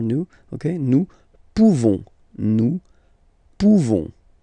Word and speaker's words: pouvons: Pouvons, nous pouvons. Okay, you don't pronounce the final S. Nous pouvons.